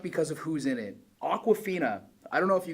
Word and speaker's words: Awkwafina: Awkwafina. I don't know if you guys know who she is. It's spelled Awka. Like, yeah, it's like the water, but it's like awkward.